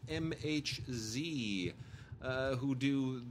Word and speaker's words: MHZ: And then, really quickly, I just want to you know, we love the people over at MHZ, which I used to mispronounce or mislabel as megahertz. It's MHZ.